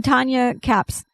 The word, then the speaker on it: Kappes: In Tanya Kapp's, her last name is spelled Kappes.